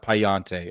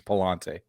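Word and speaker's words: Pallante: of you listening he he did say it correctly it's not payante okay it's two L's it's Palante I played enough Assassin's Creed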